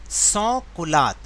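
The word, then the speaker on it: sans-culottes: And they were called सॉ कुलात, ये एक French word है, लिखा तो कुछ और है लेकिन मैं बोल कुछ और रहा हूँ क्योंकि ये फ्रेंच वर्ड है और इसकी प्रोनाउंसिएशन अलग होती है।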